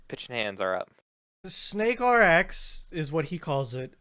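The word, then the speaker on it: SNKRX: okay okay i'm pitching hands are up the snake rx is what he calls it it is spelled snk rx don't know what to to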